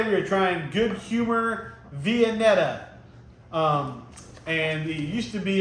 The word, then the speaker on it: Viennetta: I'm pretty sure I'm pronouncing it right. It's Viennetta. Maybe that's kind of that might be the country way to say it, but I've always called it Viennetta.